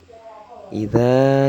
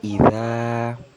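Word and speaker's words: إذا: Pada ayat pertama, pada kata idza itu memiliki hukum bacaan mad tabi'i. Sebabnya ada huruf alif, dan sebelum huruf itu berharokat fathah pada za itu ya. Dan mad tabi'i ini itu cara membacanya dipanjangkan 2 harokat.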